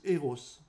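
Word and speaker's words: ἔρως: amour est associé au mot grec qui se prononce eros ensuite il ya l'amour qui s'élargit à la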